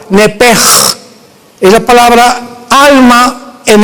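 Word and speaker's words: נפש: nepesh, como suena, N-E-P-S-H-M, nepesh. En el hebreo se pronuncia la SH como J, nepej.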